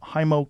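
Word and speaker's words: Heimo: you say his name hindmo hi mo h-e-i-m-o hymo korth and uh he lives up there with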